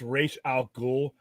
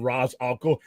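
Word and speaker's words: Ra's al Ghul: okay all right technically it's pronounced race al ghoul but in Arkham games and and and motion pictures it's been Raz al and like I said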